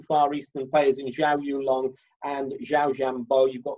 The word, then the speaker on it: Yulong: I keep pronouncing his name wrong. Yulong.